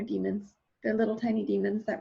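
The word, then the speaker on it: daemons: these things called demons I think they're pronounced like demons they're demons they're little tiny demons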